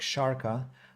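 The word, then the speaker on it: Šárka: of my surname but my first name is pronounced like sharka ah okay so the sh is pronounced as the English as in she for example sure so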